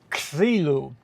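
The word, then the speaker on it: ξύλον: But to pronounce it in Greek, you have to go to KS, ksilone.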